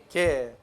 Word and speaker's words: γῆ: 개. 이가 두 개 있죠. 그러니까 개. 좀 길게 읽으라고 말이에요. 길게. 헬라어에서 요 뒤에 나온 에타, 요것도 긴 발음이에요.